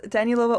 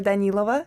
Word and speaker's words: Danilova: tall uh Dan Lova. Is that how I pronounce your last name? Yeah, it's it's Danilova or Danilova, which is like how I pronounce it in Russian.